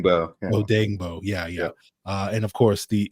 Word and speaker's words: Odeyingbo: Odeyingbo.